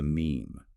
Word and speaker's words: meme: And the replicator itself, the unit of imitation, is termed the meme. Yes, coined in the source material, rhymes with cream.